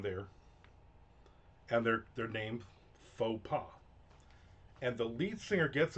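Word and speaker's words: faux pas: It's faux pa, not fox paw."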